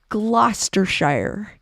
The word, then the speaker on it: Gloucestershire: gloucestershire thank you fuzzy dare I know I butchered it gloucestershire England there you go wink shaft bearishing the